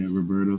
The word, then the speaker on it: Roberto: those are fighting words it is Roberto Roberto you know I'm trying hard like I'm running for elections to get people to say my name righteously even in Italy they're calling me Robert I go hold on